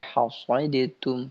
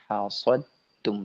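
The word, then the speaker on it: حسدتم: Tidak baca hasadatum, tidak, tapi hasadtum, langsung ke huruf ta.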